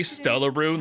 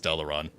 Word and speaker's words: Stellaron: I say Stellaroon like R-O-O-N for fun. I know it's pronounced Stellaron. It's just fun to say Stellaroon.